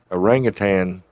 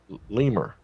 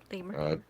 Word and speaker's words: lemur: the color of it they said it was an orangutan orangutan LaMore L yeah I keep saying it wrong lemur lemur like it was a